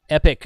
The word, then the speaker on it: Epoch: Prior to that, I was running a Renogy 200 amp hour, and Epic, I think it's pronounced Epic, but it's spelled Epoch.